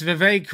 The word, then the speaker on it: Vivek: So yeah, that's Vivek, rhymes with cake.